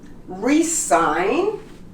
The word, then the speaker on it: resign: Sign, foreign, design, resign, and champagne. You noticed? All of the words have GN next to each other, both consonants, and the G becomes silent.